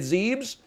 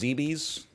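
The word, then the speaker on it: Zebes: down into the planet zebs into the damn lilac system it's pronounced zebies anyway he knows the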